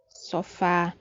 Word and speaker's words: sofá: Sofá. Sofá é uma palavra que tem a sílaba forte na última posição, ou seja, é oxítona, e termina com a letra A.